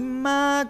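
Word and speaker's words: 妈: Y ma con primer tono significa mamá, ¿sí?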